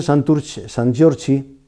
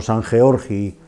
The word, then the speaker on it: San Giorgi: Entonces, desde San Giorgi, fíjate qué fácil se pasa pronunciándolo así, no pronunciándolo San Georgi, fíjate qué fácil se pasa al Santurci actual.